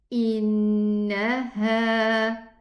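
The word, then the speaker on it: إنها: Get the letter on its own, pronounce it separately, and then connect it with the coming letter. So it becomes innaha, ha.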